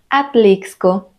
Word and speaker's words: Atlixco: palabras X en medio cuando la x coloca en medio de la palabra normalmente suena como ks que es el sonido más conocido de la x por ejemplo examen exito taxi algunos topónimos que siguen esta regla son Tuxpan Atlixco Texcoco y algunos topónimos que